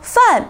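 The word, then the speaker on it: 饭: Also, fan means food or meal. It's also a fourth tone.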